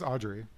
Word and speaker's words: Audre: I think it's Audre.